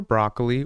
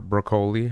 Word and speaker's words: Broccoli: golden ey7 game Barbara broccoli or broli however you want to pronounce it I've heard it pronounced both ways but personally I always say broccoli so for anyone that